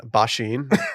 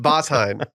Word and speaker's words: Basin: I'm so sick of people pronouncing uh Basin Bashin. Stop. It's pronounced Basin.